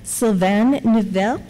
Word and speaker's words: Sylvain Neuville: And next we have Sylvain Neuville. Close enough. So, which would be much more correctly pronounced if I was French-Canadian, but I'm not.